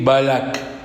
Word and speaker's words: Balak: dit qu'il y a 3 parachiotes qui se suivent avec le kouf, qui se prononcent Hukkat, hein? On dit Hukkat, et on dit Korah, et on dit Balak.